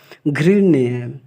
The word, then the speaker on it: घृण्य: यहाँ ड़ को हम न के रूप में उच्चारण करते हैं तो यह होगा घृण्य।